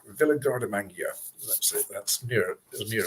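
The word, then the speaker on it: Villa Guardamangia: It is called, the pronunciation of it, Villa Gardamangia. Villa Gardamangia.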